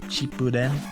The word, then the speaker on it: Shippuden: better than i like shippuden or cheap boot in if you want to be correct about the pronunciation is because in the